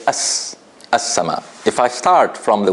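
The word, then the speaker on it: السماء: So I don't say al-sama. I don't say al-sama. I say as-sama.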